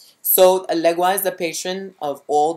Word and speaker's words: Elegba: Okay, it's spelled here Elegba, but it's Elegwa in the book.